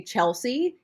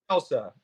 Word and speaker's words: Chelsa: So a round of applause there because so many people say Chelsea even though my name is spelled phonetically.